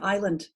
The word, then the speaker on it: island: means Island and so that s in Island has disappeared out of our pronunciation but it has the same root as isolate and we hear the s in isolate because all from the same